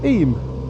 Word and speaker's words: Eyam: the village sign I it says I it's pronounced IM in the uh Doomsday Book it's actually written